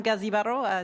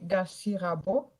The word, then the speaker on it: Gazibaro: Madame Gazibaro, 5 minutes. Mon nom, c'est Gassi Rabo. Pour les prochaines, vous inversez un peu la prononciation de mon nom.